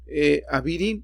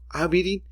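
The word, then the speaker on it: אבירים: Como vemos aquí nos deja ver cómo le tenemos que pronunciar Avirim, y realmente sí, porque si pronunciamos el sonido natural de la yod es yod, del sonido natural del alef es a. Aquí está correcto, Avirim.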